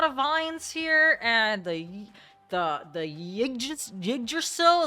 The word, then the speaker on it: Yggdrasil: And the Yggdrasil, is that how you fucking say it? I know it's called Yggdrasgard, but, you know, the fucking Y is silent.